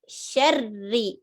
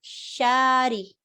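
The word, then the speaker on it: شر: And then sharri, not shari. Some people say shari. No, shar is connected to ra suddenly. So there's a shadda.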